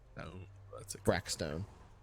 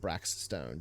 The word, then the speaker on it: Brackstone: uh it's just raymond brac stone brackstone xrck sorry what was that brack b-r-a-c-k yeah b-r-a-c-k stone stuff not brax stone just brac stone like black stone